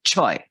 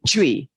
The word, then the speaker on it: chui: who's an expert in Qigong said it should be choi. It was probably chosen to be chui because that's softer, but it should be hitting your kidneys. So sometimes I do it with choi. Say it like oy vey, choi.